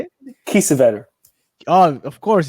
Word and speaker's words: Kiesewetter: Kiesewetter.